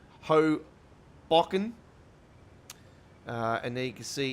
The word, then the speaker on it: Hoboken: We're at Hogbreaken here at the moment. God, I will get that pronunciation correct. Hoboken.